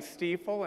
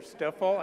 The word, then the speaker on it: Stifel: And then I'm in back and they're saying Stifel and not Stifel or Stifel.